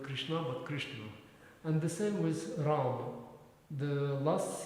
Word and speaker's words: Ram: Like in Bengali, you don't pronounce this ends, so it's Ram. In Delhi? Bengali, in Bangla. Oh, in Bengal, yeah. So, but in Hindi also it's rudimentary. You don't say Rama, you say Ram.